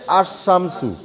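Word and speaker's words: الشمس: সান তখন হয়ে যাচ্ছে আসমসু আলটা মানে লামটা উচ্চারণ হচ্ছে না এইজন্য এটাকে বলা হয়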